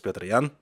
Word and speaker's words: Petr Yan: spoken english much easier but obviously the correct pronunciation is petrian and you're gonna hear it a bunch as